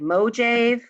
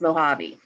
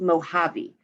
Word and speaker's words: Mojave: amazing life of the mojave it looks like mojave but it's mojave it's a desert okay it looks like the word mojave but it's pronounced mojave and this is a non-fiction text expository means